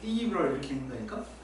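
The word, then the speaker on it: integral: 원어민들은 이니그럴 이렇게 읽는다니까? 강제가 그쪽에서 나와 있는 거 그러니까 왜 이니그럴 이렇게 읽지?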